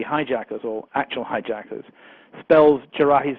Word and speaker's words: Jarrah: Department of Justice list of would-be hijackers or actual hijackers spells Jarrahi's name wrongly. It puts an I on it. It's Jarrah, and they spelled it Jarrahi, which is a bit sloppy, unless perhaps he had a passport that was spelt wrong.